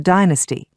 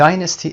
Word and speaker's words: dynasty: to carry on the dynasty. And have a son to carry on the dynasty. چه چیزی رو ادامه بده؟ The dynasty. Dynasty American هست و dynasty British هست تلفظش.